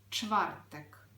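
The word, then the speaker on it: czwartek: - це чвартек увага Слово починається із твертого звуку ч коли ми вимовляємо цей звук нижня щелепа має виходити за верхню складний звук варто потренуватися чвертек чвертек четвер мабуть улюблений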